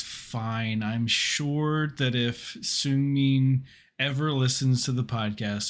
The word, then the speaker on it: Seungmin: Tonight, we watched SKZ All Night, and we learned how to correctly pronounce Seungmin. So we'll do our best not to say Seungmin. Yeah. Even though I hear lots of English speakers say it that way, it's clearly incorrect.